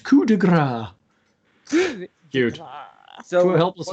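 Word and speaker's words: coup de grâce: Pronounced coup de grace.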